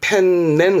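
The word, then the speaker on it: 天然: 그러면 천연 자원의 천연 그때는 발음을 텐넨 그럽니다 텐넨 그때만 낸 발음이고 다 젠이 자연은 시젠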